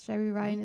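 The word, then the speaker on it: Jeri Ryan: Yes, Jerry Ryan is back.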